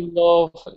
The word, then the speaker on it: pilaf: We call it pilaf, I think. We pronounce Yeah, pilov. It's pronounced a bit more like Turkish.